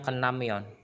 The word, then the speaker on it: 끝나면: 끝나면 Lebih enaknya kita bacanya kenamyon. Gitu. 끝나면 ya. Ya, jadi langsung ya. Jadi 끝나면 kenamyon. Jadi bacim yang berakhiran dengan T, dia ketemu sama nian atau miem, dibaca ini T-nya tersebut dibaca N.